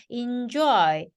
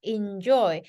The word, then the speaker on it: enjoy: 거구요 아 그 다음에 이거 2를요 되게 애로 발음을 하고 싶어 하시더라고요 그래서 엔조이포트 네고시에이션 이렇게 말을 하시는데요 2로 발음이 돼요 그래서 injoy injoy enjoy는 그래서 얘는요 동사 할